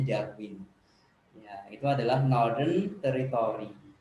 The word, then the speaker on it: Darwin: yang kelima itu adalah Darwin kalau orang Australia bacanya daun orang kita bacanya Darwin yaitu adalah nol Den